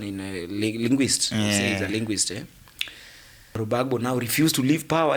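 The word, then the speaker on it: Gbagbo: He used to pronounce that thing like Loro Bagbo. When you read it, it's Laurent Bagbo.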